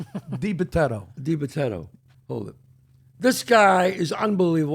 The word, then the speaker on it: DiBitetto: Like Japetto with a D.